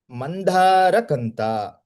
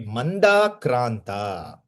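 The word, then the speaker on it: मन्दाक्रान्ता: And there is another meter which is in the same syllabus, which is called as Mandharakanta. Sorry, Mandakranta. Mandakranta.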